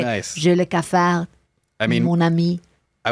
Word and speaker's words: J'ai le cafard: J'ai le cafard. J'ai le cafard.